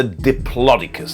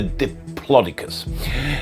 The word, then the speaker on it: Diplodocus: rangers so up to how long was the diplodocus that's how you say it the diplodocus now was it a up to 15 meters